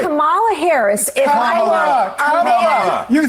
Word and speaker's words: Kamala: If Kamala. You said it without calling you Nancy Mace. It's Kamala.